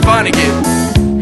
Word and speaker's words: Vonnegutt: break your hip hopper into why and it's pronounced Vonnegut you got the no 1 ounce Vonnegut's the